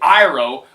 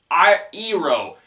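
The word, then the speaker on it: Iroh: Shyamalan tried to screw with fans because he mispronounced the names cuz in the show it's clearly Saka it's clearly in it's clearly iro but in the show they're just like on sooka I EO it's like they it's it's like they purposely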